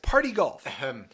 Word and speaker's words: Par-T-Golf: Okay, so yes, Party Golf. And that's spelled par-t-golf.